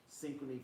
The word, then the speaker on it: Synchrony: Wells Fargo, and Syncron, how you pronounce it again? Synchrony Financial.